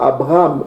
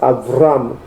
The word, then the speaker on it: Avram: Eux ils disent pas Abraham, ils disent Avram.